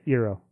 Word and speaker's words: Eero: They bought Eero. Is that how you pronounce that? Yeah, Eero.